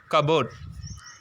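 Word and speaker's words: cupboard: பி வந்திருக்கு next பாருங்க கபோர்ட் சோ கபோர்டுல பாருங்க பி சவுண்ட் சைலென்ட் கபோர்டு தான் சொல்லுவோம் கபோர்டு அப்படின்னு சொல்ல மாட்டோம் சோ இந்த பி வந்து இந்த லெட்டர் வேர்ட் இந்த இந்த வேர்ட்ல இந்த லெட்டர் பி வந்து எதுல இருக்கு சைலென்ட்ல இருக்கு நம்ம எப்படி வாசிக்கணும் ப்ரொனௌன்ஸ் பண்ணனும் கபோர்ட் அப்படின்னு சொல்லணும் சரிங்களா நெக்ஸ்ட்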